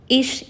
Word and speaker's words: ich: So hallo is hello, ich is I. Again, be careful that when you pronounce, so ch is not ch in German, it's sh.